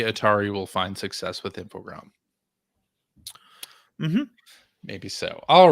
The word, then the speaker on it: Infogrames: Very sure that it's not Infogrames. Infogram was a portmanteau of information and grames. It was a portmanteau of informatique. What is it? Informatique. Program. Information technology and program. Oh. Yeah. But in French it's programme. So it's Infogram.